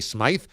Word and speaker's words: Patty Smyth: in the zone AutoZone so I was wrong on Patty Smith versus Patty Smythe I thought they were both pronounced Smith we all did here on the show so we take an L on that one thanks everybody for pointing that out did not realize that was a difference so that's my bad